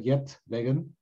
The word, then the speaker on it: Geert Weggen: us where you're from my name is uh yet megan i pronounce it in the english way i'm from dutch from